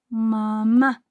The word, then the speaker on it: mamá: Volviendo a la palabra mamá, vamos a decir mamá. Su sílaba tónica es la última o su golpe de voz.